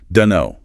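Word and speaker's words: dunno: Dun know.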